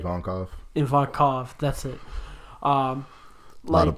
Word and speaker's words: Ivankov: Ivankov, right? Ivankov.